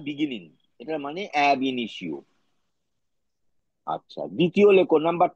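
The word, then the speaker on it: ab initio: তার একটা লিস্ট দেবো লিখে নাও লিখে নাও অ্যাব ইনিশিও লেখো এবি স্মল লেটারে লেখো এবি একটু স্পেস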